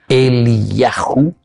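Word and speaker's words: Eliyahu: Dentro nuestro contexto histórico, en la tradición judía del segundo templo, la venida de Elías, Eliau, Elijahu pronunciado, el Yahu, ¿verdad?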